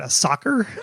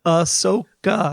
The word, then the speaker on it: Ahsoka: Also, it sounded like he said a soccer. I don't know. How do you say it? How do you say it? Ahsoka. Yeah, Ahsoka.